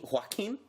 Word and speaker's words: Joaquin: Joaquin? Is that how you say it? It's like you're hawking can't up say it.